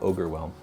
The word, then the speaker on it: Ogorwhelm: I think it's called Ogorwhelm.